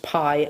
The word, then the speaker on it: bi: pronounced spelt b i pronounced pie as in something that you would eat so pie is a